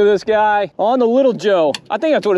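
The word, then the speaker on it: Jeaux: it's called a little Joe I think something like that Joe is spelled j-e-a-u-x this thing looks great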